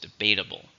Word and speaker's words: debatable: How many syllables? Debatable. 4, stresses on the second syllable.